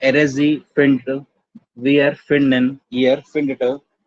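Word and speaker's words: findet: इसलिए प्रोनाउंसिएशन को इजी करने के लिए हम लोग इन दोनों में एक एक्स्ट्रा टी ऐड कर देते हैं, तो ये हो जाता है फिंडेट। प्रोनाउंस करने में सिंपल।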